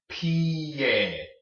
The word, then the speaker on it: pie: Well, the I makes the E sound, and the E makes the sound, so you put it together. Pie. Pie. Okay? That's how you pronounce that word. It's not pie, it's pie.